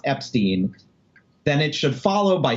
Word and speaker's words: Epstein: It says, Brian made clear that he preferred Ep-steen rhyme with teen, not with fine.